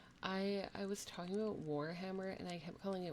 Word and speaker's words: Warhammer: it they're they're like it's not wormer it's Warhammer it's Warhammer and I was